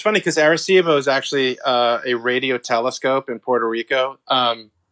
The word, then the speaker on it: Arecibo: yours is that, I just make sure I'm pronouncing this right. Is it Arecibo?